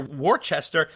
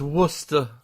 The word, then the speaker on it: Worcester: you read my email the a worcester pronounced worcester what's with this i know it doesn't spell that well okay worcester pronounced right i know we you're in that uppity crust of connecticut up there it's uh it's worcester oh it's worcester all